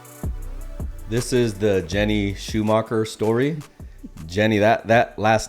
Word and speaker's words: Schumacher: So how would you pronounce it in its traditional form when you're in Europe specifically? Schumacher. Schumacher. Okay. Yeah. So the origin of that is what? It's German. German, Mine actually is Swiss.